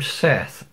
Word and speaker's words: Seth: Whereas the name Seth, which I've spelled, I'm pronouncing S-E-T-H, which is one way of doing it. It could be Set, even.